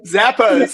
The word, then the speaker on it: Zappos: retailer in the US, is it Zappos or Zappos? How do you say that? Zappos.